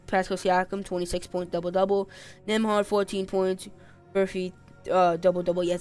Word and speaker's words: Nembhard: Nembhard, 14 points.